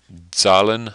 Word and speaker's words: Zahlen: It's a German word, Zahlen, I think is how you pronounce it, which I think